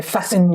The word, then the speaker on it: fasten: They often say, fasten your seatbelts. Fasten has a silent T.